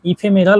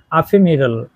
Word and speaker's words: ephemeral: এইচই এমই আর এল অনেকে ইফেমেরাল উচ্চারণ করবে কিন্তু এর সঠিক উচ্চারণ হবে আফেমেরাল চলুন আজকে এই আফেমেরাল